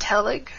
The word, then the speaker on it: TELIG: The most active one is Technology Enhanced Language Learning Interest Group, which is pronounced TELIG.